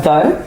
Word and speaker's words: though: If you take the word though as an example, it's spelled t h o o u g h, which you wouldn't expect to make that sound o.